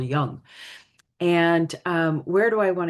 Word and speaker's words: Jung: Yeah, so Carl Jung, and I think that's close to the appropriate pronunciation, although I'm sure I'm going to say Young because it's just easier, right? It's like how we were all brought up to say it, Carl Jung.